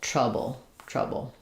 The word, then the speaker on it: trouble: So first syllable stress, we have the tr, the stress schwa, and then the bull, trouble.